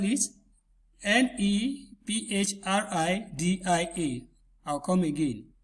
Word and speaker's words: Nephridia: Let me spell it. Nephridia. I'll come again. Nephridia.